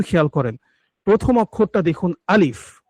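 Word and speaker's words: ا: প্রথম অক্ষরটা দেখুন আলিফ। আলিফটা হচ্ছে যে হলকের শুরু আছে সেখান থেকে উচ্চারণ হয়, এই যে এইখানটা থেকে দেখুন। হুম, এখান থেকে উচ্চারণ হয় আলিফ, দ্রুতই।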